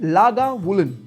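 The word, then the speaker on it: Lagavulin: एकदम प्रो की तरह प्रोनाउंस करने हैं आपने। पहला है आर्ट बेग। आर्ट बेग। दूसरा है लागा वूलन।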